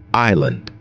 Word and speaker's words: island: Island. Here S is silent.